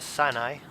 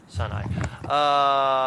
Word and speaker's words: Sinai: the province of Sinai a sign I is that it is pronounced yeah son I um any tickets for